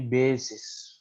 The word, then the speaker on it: bases: can find infinitely many bases right so this uh pronounced bases so if you have e